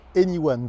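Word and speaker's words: e:Ny1: bas de l'image là ça se prononce anyone pour ceux qui parlent anglais ça veut dire tout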